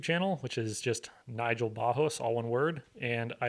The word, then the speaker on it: Barros: My last name is pronounced Bajos, but just for simplicity's sake, it's Barros.